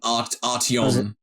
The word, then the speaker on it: Artyom: It's spelt Artyom. Artio. So there's an M at the end. Artyom.